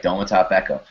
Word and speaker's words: Domata Peko: He's playing starter snaps with Dematka Peko. I don't know how to pronounce it. I think it's Dematka Peko. Domata Peko? Domata Peko? Okay, yes, that sounds right. Domata Peko.